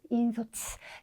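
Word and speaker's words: 引率: 다시 한번 보시면 인솔은 인소츠, 네, 비율은 네, 히리츠라고 읽어주시면 되겠죠.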